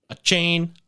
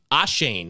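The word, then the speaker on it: Achane: the waiver wire obviously Devon chain ah Shane actually is how you say it yep he's going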